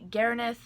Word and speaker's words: Gaernith: week with Zara's name there are probably a million and a half ways to pronounce Karen in this name so feel free to pronounce it how you please I myself pronounced it at least three different ways before since I created her finally settling on Garen s and that's because that's my preference so let's get on with